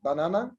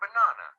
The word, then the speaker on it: banana: So we make a kind of stress on the second syllable in the word banana. So the first ba is unstressed, na is stressed, na, the third syllable is unstressed. But the word o, orange, the first syllable is stressed.